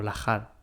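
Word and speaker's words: lahar: la que tengo yo que por eso yo la H las pronuncio como j y luego vosotros Bueno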